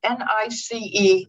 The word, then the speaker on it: Nice: The clue word looks like it should be nice, a nice time, but in fact it rhymes with, it's more like it's the word Nice, which is a city in France.